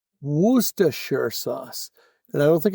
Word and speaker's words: Worcestershire: How's it pronounced in Boston? Woosta. So, it's Woostershire sauce. And I don't think it's shire. It's not Worcestershire. That's It's Woostershire.